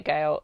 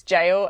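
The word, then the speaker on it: Gaol: sent to trial bay gail i can never pronounce this word i know it's jail and i always go gail uh jail trial bay jail in new south wales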